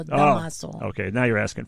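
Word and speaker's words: Dámaso Pérez Prado: Tomaso Perez Prado. No, okay. Damaso. Oh, it's not Tomaso. No, Damaso.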